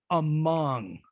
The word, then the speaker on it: among: occurs in unstressed syllables notice how i'm saying among among i'm putting the stress in this in the second schwa sound not the first so the second sound is the wedge the first one is the schwa because a schwa occurs in unstressed syllables in the vowel chart